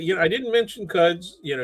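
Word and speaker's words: Quds: And I'm really interested, you know, I didn't mention Cuds, you know, it's it's Q, right? But yeah, but it's pronounced Cuds.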